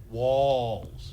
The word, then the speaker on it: Walz: Walls. Yeah. Also, rhymes with balls.